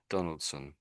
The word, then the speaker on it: Donaldson: And most people just say it as sun on the end, sun. Donaldson. And really, whatever you see s o n on the end or something like that, you'll it'll probably be sun. It's strange, isn't it? So, you just have to get used to it, really.